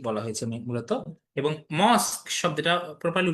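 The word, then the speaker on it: Shiva: শিব temple of Chandrabati এটার নাম পেলাম। দেখো শিবালেখা বাট উচ্চারণটা কিন্তু শিব।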